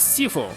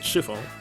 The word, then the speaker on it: Sifu: So he's Sifu, not Shifu.